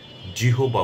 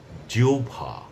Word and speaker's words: জিহ্বা: আমরা কখনোই জিহবা বলবো না। আমরা বলব জিওভা।